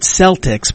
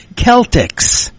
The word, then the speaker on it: Celtics: Everybody here pronounces it Celtics, but I was corrected one time that it's Celtics. If you pronounce it correctly the Irish way, and I didn't think